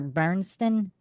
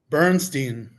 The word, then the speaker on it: Bernstein: Is it Bernstein or Bernston? Bernstein. Bernstein.